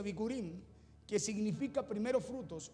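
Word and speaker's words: בכורים: Que en la raíz hebrea, le decía, también se pronuncia bikurim, que significa primeros frutos, o bikurim, que significa la promesa está por venir.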